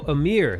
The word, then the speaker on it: Ymir: Oh, Ymir. Amir. That's Ymir. how they say her. They say her name Amir in the show. I think, in the Japanese one, they say Ymir.